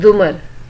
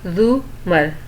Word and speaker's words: زمر: بھی ملاقات ہوئی تھی۔ اس نے البتہ زمر کا غلط تلفظ بولا، رے کے اوپر زبر کے ساتھ اف۔ اٹس زمر، زو-مر، رے کے اوپر پیش ہے، اس نے توڑ کر بتایا۔ وہ خاتون اچھا اچھا